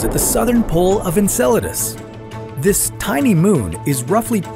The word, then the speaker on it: Enceladus: would happen if we found alien life on Enceladus first of all it's pronounced Enceladus not Enceladus sorry muchacho Enceladus is Saturn's sixth